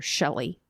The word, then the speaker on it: Shilie: So her name is spelt Shilie, Shilie. Oh. But in interviews and things, her family and friends called her Shelly.